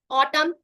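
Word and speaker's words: autumn: जैसे ये हो गया कॉलम हो गया यहां पे एम के बाद अगर एन आएगा तो एन का उच्चारण हम नहीं करेंगे। ऑटम सोलम right and this is what this is slam this is हिम।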